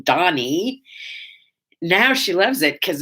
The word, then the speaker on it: Dani: first child donnie yeah her name is donnie d-a-n-i it's a hebrew name it's driven her crazy for most of her life nobody could ever spell it right or say it right she was always danny and she'd have to say i'm not danny on donny now she loves it